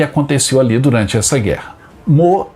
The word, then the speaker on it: Meaux: A nossa parada de hoje é na cidade francesa de Meaux. Essa é a pronúncia correta, o nome está escrito aí.